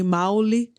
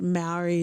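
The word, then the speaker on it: Māori: Like in Tongan, we say Maoli, but Maori is usually how most people know how to pronounce it.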